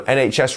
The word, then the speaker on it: NHS: and yes so um NHS remember to get that h sound in the middle and we will actually